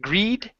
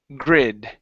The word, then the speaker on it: grid: Instead of greed, grid. Grid. Good.